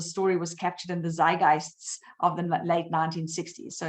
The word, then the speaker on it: zeitgeist: of hung around in the how do you pronounce it zygits zeitgeist zeitgeist right zeitgeist says doc okay is the definition